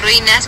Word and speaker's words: ruinas: Me gustaría ir a las ruinas mayas. Ruinas. Sí. All right, so I have to learn how to pronounce ruins.